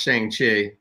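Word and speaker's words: Shang-Chi: voice in jack says it's pronounced shang chi that's not phonetically spelled but i yeah anyways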